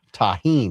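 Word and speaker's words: tahini: Taheen. Ah, taheen. That's how you say it.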